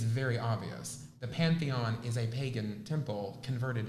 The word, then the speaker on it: Pantheon: called, it's not the Parthenon, but it's the Pantheon. Pantheon, thank you.